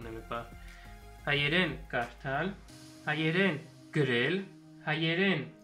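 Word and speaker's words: գրել: Hayeren Grel.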